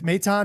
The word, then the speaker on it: Maton: he can be, and I'm following your lead on how to say his last name. Um, uh, I think I was saying Phil Matten before.